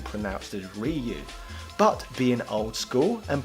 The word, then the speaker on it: Ryu: silly and presumptive indeed for me personally my pronunciation of the name ryu originates from when I used to play Street